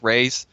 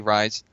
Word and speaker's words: Raiz: Sure, you can find me on Twitch TV RaizQT, except it's spelled like Raise, but it's actually Rise.